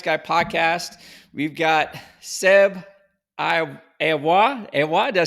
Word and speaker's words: Lavoie: Today on the Lions Guy podcast, we've got Seb Lavoie. Did I say it right? Lavoie.